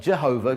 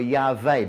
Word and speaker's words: Yahweh: Some people, it could be the two most likely options are Yehovah, because it's not Jehovah, because there's no J in Hebrew, so it's either Yehovah or Yahweh, because also there's no W.